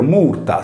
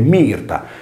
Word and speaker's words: myrta: mantenuto inalterati tantissimi lessemi, quale ad esempio Murta, scritta in latino Murta, nominativo singolare, pronunciato erroneamente Mirta, similmente all'italiano Mirto.